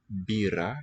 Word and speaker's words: μπύρα: Pino bira here, nasal plus voiceless stop for the b here, voiced stop.